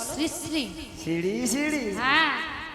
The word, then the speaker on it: শ্রী শ্রী: আরে মাসি, ওনার নাম ছিরি ছিরি নয়, বলো শ্রী শ্রী।